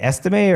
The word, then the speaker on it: Estime: Is it Estime, or is that how you pronounce it? It is Estime.